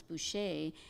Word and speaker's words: Boucher: So they just, the name ends in ER in the French way, and they changed it to A as it sounds, Boucher, and then it also is Ojibwe.